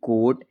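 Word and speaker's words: coat: इसमें जो ए होता है वो क्या होता है? साइलेंट होता है। आप हमेशा ध्यान रखिए। जैसे सी ओ एल कोल सी ओ ए टी कोड एल ओ N loan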